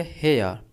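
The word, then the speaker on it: hair: जो प्रोनाउंसिएशन होता है उसमें आर साइलेंट होता है। ठीक है? तो आर को हम प्रोनाउंस नहीं करेंगे। सिर्फ कहेंगे हेयर।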